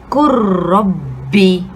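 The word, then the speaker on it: قُلْ رَبِّ: And lastly, the letter ba kasra by itself, kurrabbi, kurrabbi. So taking note here, நம்ம lam sukuna நம்ம pronounce பண்ணல, அத எழுத்தை மறைச்சிட்டோம். So it becomes silent.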